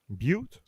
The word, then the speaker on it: Butte: a non-profit organization in butt county raising where where's butt county and have i pronounced it right butte no youth country i can't imagine